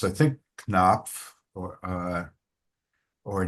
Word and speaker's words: Knopf: uh add it online, but your name is pronounced, but many of us know the publisher uh with the same spelling Alfred A.